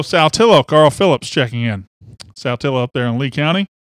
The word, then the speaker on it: Saltillo: Carl Phillips checking in Saltillo up there in Lee County I am saying it right nobody calls it south pillow it is Saltillo how you say it